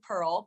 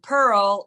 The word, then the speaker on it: Pirl: Um, so my Facebook is Pearl, but it's spelled and Pearl is P I R L.